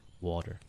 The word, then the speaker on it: water: yeah I think I I kind of pronounce it more like a water like with a d like a soft the tea becomes a soft D water water I'm going to have a sip of water water and uh from my time in from my time in England uh they do sometimes really pronounce it with a hard hearty thank you very